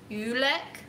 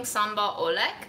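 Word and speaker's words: sambal oelek: Apparently you pronounce it yulek. I've been pronouncing it wrong the whole time because I was saying sambal olek, but it's apparently yulek.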